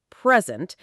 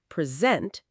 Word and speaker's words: present: If you stress the first syllable, present, it is a noun, a gift, or an adjective, being here right now. But if you stress the second syllable, present, it is a verb to give something formally.